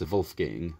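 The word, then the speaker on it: Wolfgang: the yo and um in German the wolf in wolf gang is pronounced vulf gang Wulf gang so we've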